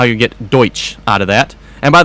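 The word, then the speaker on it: Deutz: And by the way, when he says Deutsch, he's spelling it D-O-Y-C-H. So here's the question for me, folks. If they want it pronounced that way, why don't they spell it that way? Why is it spelled D-U-E-T-Z then? Deutsch. So I pronounce it the way it's spelled, which, yeah, it might be wrong, but that's the way it's spelled, so.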